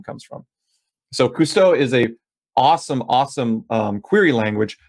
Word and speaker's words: Kusto: KQL, which is the Cousteau query language. It's spelled Kusto, but Cousteau is a joke on like Jacques Cousteau.